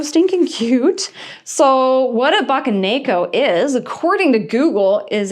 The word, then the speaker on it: Bakeneko: Bakeneko. It is pronounced the Bakeneko Plush.